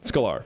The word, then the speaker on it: Sklar: Sklar. Where does the emphasis go? There's none. Just Sklar. It's fine. It's all right. It's one syllable.